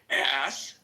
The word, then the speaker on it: ask: For all of those people who have a little difficulties in their pronunciation, say the word ass. Then say c the k sound. Ask. C. Ask.